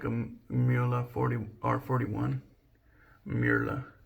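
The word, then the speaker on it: Mühle: I think that is the way they say it. It's funny because the Germans try to explain how to pronounce it, and I feel like pretty much all of us just fuck it up. But I think it's Murla. Like, a lot of people say Mula, and a lot of people say Mula.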